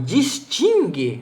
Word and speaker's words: distingue: mesmo diante de E, mas em distingue, do verbo distinguir, forma dígrafo consonantal, porque U não se pronuncia.